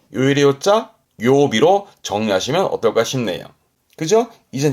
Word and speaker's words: 曜日: 마지막으로 날일자가 들어가면 그 새의 날개에 해가 비춰서 빛난다라는 빛날 요자 이거는 요일의 요자 그래서 요비 요일의 요자 요비로 정리하시면 어떨까 싶네요.